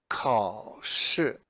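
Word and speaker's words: 考试: it's also the word for exam and it's pronounced car should car sure and in this case it's two characters but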